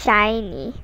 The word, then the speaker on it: SHINee: wikipedia shiny in korean it's pronounced as shiny which is pretty much the same it's a south korean